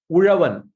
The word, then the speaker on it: Uravan: Uravan. Uravan. Uravan. Okay. Uravan. I mean, that Ra is very unique to Kerala and Tamil Nadu. It's not available in any other Indian languages.